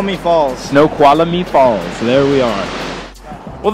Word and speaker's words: Snoqualmie: Falls I don't know how the hell you pronounce that no Kuala me Snoqualmie Falls there's a massive waterfall oh my god